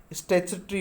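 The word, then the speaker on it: statutory: देखिएगा कैसे बोलोगे आप, इसका सही प्रोनाउंसिएशन क्या है। स्टैच्यूटरी होता है इसका, स्टैच्यूटरी, क्या बोलोगे, स्टैच्यूटरी, आप से नोट कर लें इसको कहीं भी।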